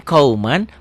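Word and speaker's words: قومًا: Tulisan dan bacaan beda. Ditulisnya ada n-nya, dibacanya n-nya tambah g jadi eng.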